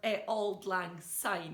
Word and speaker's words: Auld Lang Syne: Every New Year, people all across the world sing the song Auld Lang Syne. Or Auld Lang Syne, if you want to pronounce it properly.